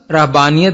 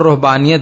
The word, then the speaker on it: رہبانیت: کی خدمت کرتے تھے۔ رہبانیت، اس کا تلفظ رہبانیت بھی کیا جاتا ہے اور رہبانیت بھی، اس کا مادہ رہب